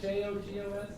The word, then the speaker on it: Jogos: J-O-G-O-S? Hogos?